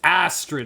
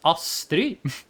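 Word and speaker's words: Astrid: A character is going to be like, "Hello, my name's Astred." I'm going to be like, "No, your name is Astri."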